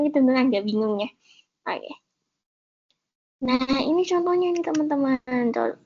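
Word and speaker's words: を: sama ya, bukan teman-teman, ini sebenarnya dibacanya wo nanti, tapi berubah jadi o karena ini ada bintangnya, karena nanti kalau jadi partikel kita bacanya o. Kalau jadi partikel ya teman, khusus jadi partikel bacanya o.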